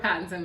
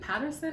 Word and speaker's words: Pattinson: this tweet and robert pattinson was in it right yep okay yeah is it patterson or pat it's pattinson my mother and i